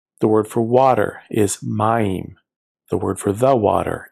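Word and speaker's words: מַיִם: The word for water is mayim.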